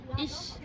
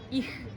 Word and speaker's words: ich: oder halt vom Balkan, sprechen das CH als Ch aus. Also beispielsweise, ich sage ich, man spricht es ich aus. Ja? Was gerne ausgesprochen wird, ist ich. Das ist aber falsch.